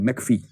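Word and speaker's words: McPhee: ई एल D laser failed और तीसरा है मैकफी एम सी पी H double E मैकफी 1954 और इसका दावा है कि राजनीतिक अभिवृत्तियों के निर्माण में सबसे बड़ी भूमिका परिवार की होती है।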